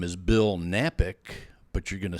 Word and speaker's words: Knapik: my name is Bill nappick but you're gonna say oh man I don't know how to spell that well you know here's the key Kevin the K is silent so just go to